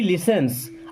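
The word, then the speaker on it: listens: सब रुक गया नोबडी लिसेंस अब यहां पर यह लिस्टेंस नहीं होता टी साइलेंट होता है ना लिसेंस नोबडी मीस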